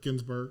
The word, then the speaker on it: Ginsburg: I want to make sure I pronounce it correctly. Ginsburg, yes.